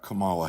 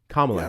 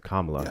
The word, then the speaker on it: Kamala: You're you're not talking about Camala Harris. Oh, so remember that thing you mentioned about like people can't pronounce words.